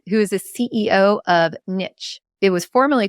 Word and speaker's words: Niche: So first, I have to ask, is it niche or niche? How do you pronounce this word? Because I've never known. No problem. Great question. It's actually a question that comes up all the time. I grew up saying niche.